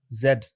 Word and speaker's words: Z: letter of the alphabet Zed okay in the US most people say Z right but then so I expect that in the US outside of the US generally people say Zed yeah but then when